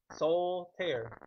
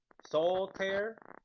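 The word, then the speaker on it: Soltaire: say that It's like soul tear. Soul like my soul right here and tear like a tear of paper. Soul tear.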